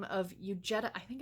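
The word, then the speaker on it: Huguette: by the name of u Jetta I think it's you Jetta or Eugenia it's h ug but I know the H is silent we'll call her mrs.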